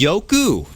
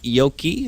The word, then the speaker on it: Yoku: recent time I heard it's going to be Yoku not Yoki if I'm correct and